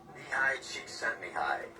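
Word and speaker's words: Csikszentmihalyi: I think his name is pronounced high cheek sent me.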